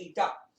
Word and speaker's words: eta: तब आपको ये बताएगा, ये इसको बोलते हैं एन नहीं, इट इज रॉन्ग प्रोनाउंसिएशन, इसको बोलते हैं ईटा।